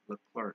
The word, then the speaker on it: Leclerc: Leclerc.